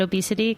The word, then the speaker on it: OBEY City: It's OBEY City, but we pronounce it Obesity because we're cool like that.